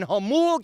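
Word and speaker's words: Jamul: Literally bought the farm, and it's a couple of 100 acres out in Hamul, California. Woo! The J is silent south of the 8.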